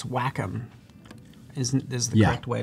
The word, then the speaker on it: Wacom: to say it yes I say Wacom because I'm an idiot but it's Wacom it yeah that's fine if I if I'm an idiot guys I get to say it yeah I would probably pronounce it differently just to annoy people who would feel the need to correct you my god it's actually Wacom I'd say it well